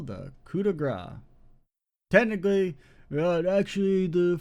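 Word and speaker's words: coup de grâce: Technically, actually, the French pronunciation is more like coup de grace or coup de grace. It's like more like a grass sound, which it sounds really fucking silly. If you ever hear them say it, it sounds like cut the grass.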